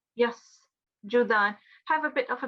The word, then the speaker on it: يسجدان: Yeah, make sure that it's not a sh sound, it's not sheen, it's seen. So it's yasjudan, yasjudan.